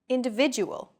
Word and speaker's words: individual: are valued greater than syllables that are unstressed individual the stressed syllable V in individual is deemed more important so it's pronounced longer than all other syllables listen to it again individual this gives English a Morse Cod likee Rhythm